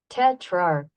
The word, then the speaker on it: tetrarch: tetar what in the world one more time tetrarch tetrarch let's go slow tetrarch tetrarch okay well basically the way it looks